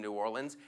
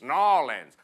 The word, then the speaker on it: New Orleans: They're like, it's New Orleans, New Orleans, like you're choking on a peanut, New Orleans.